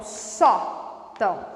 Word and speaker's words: sótão: nas casas só então só então é claramente uma paroxítona e termina em ão ó o som aqui no nariz então eu coloco tio no a para indicar nasalização mas a sílaba tônica não é o Tão é o só então tá então muito